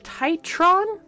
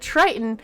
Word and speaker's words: Titron: has the uh ARA titron I have to very specifically focus on that syllable because it's not Triton it's titron dang it de you had